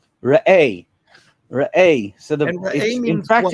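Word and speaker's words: ראה: And Rabbi, you helped me with the pronunciation. Is it Re'eh? Re'eh.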